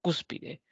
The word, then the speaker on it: Cúspide: ejemplo cuando hablamos de la palabra Cúspide es una palabra trisílaba tiene tres sílabas y la mayor fuerza de voz recae en la antepenúltima sílaba mágico alérgico lágrima Dímelo